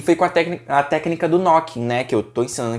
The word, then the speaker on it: knooking: Que a gente pronuncia knocking mesmo tendo o K na frente, você encontra no e-book.